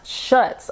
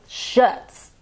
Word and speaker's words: Schutz: it's pronounced shuts okay s-c-h-u-t-z shuts get it right hi James welcome back